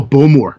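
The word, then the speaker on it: Bowmore: you or the scotch that you like oh bulmore it's called bulmore how do you how do you spell that bulmore so it's b o w m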